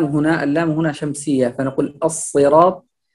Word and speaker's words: الصراط: اللام هنا شمسية، فنقول الصراط. أيضا الصاد هنا هو من حروف التفخيم، فلا نقول الصراط، لا هذا سين، لابد أن نقول الصراط، والصاد هنا من حروف التفخيم، وهو هنا مكسور فهو حرف مفخم.